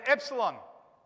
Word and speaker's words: epsilon: a d and then we've got epsilon down here at the bottom here uh and that's the e now in english we